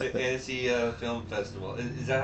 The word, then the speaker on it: Annecy: So you were saying Annecy Film Festival. Is that how you pronounce it? Yeah, Annecy.